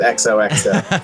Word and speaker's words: Exohxo: Anyway, lots of misspellings, Exodus mispronunciations. was Exodus. we were billed it on a show as Exodus. Exodus. We had to inform thousands of disappointed people that we were not, in fact, Exodus.